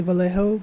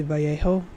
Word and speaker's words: Vallejo: of my sculptures um I want to say Vallejo but I know it's probably Vio because it's Double L which makes the Y sound I don't know how